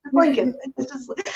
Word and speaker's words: Lincoln: but whenever he said Lincoln he always pronounced the second L like lincol it's like that's the one thing like you know Dad it's Lincoln he like retain a